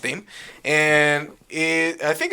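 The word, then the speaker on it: Dâm: We just found out that it's pronounced Dame.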